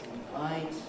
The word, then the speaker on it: invite: Invite, stressed on the second syllable, all friends.